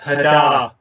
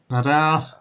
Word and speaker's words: Hadar: just to be that guy, I believe it is actually pronounced Hadar. Hadar.